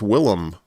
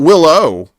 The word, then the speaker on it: Willem: call him William, but it's uh it's Willm. Not Willow, but Will as in delicious Will goodness.